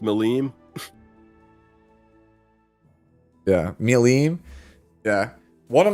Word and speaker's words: Milim: And I clicked, and it's a picture of Milam. So already, I'm on high alert here. Yeah. I believe it's pronounced Milim.